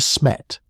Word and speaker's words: De Smet: It was called Smet, 2 syllables. The weight falls on the second one.